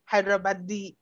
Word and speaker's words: Hyderabad: be clear did you say you have the hyderabadi yeah so first teach me how to pronounce that i need to be culturally intelligent